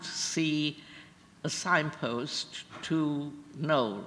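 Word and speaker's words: Knole: And we didn't know where we were going, but we happened to see a signpost to Knowle. Now, Knowle, in the typical British spelling, is spelled K-N-O-L-E, right?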